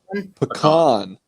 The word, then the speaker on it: pecan: Pecan. Pecan, Okay. and then the LOL is silent at the beginning.